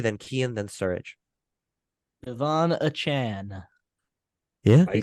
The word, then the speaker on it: Achane: Devon Achane. Yeah, I say Achane.